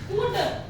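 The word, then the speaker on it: could: एल हमारा silent है कुड इसको बोलेंगे कुड इसमें भी हमारा एल क्या है साइलेंट है काफ सी ए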